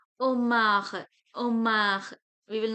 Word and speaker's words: homard: Omar. We will not pronounce the last letter consonant, so it will be omar.